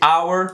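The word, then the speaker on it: hour: pronúncia vai ser igual porque esse H que ele não é pronunciado essa daqui tem um our de nossa e our de hora ok então elas têm a pronúncia igual e essa daqui é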